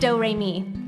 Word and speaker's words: Doremi: It's spelled like notes and pronounced Doremi.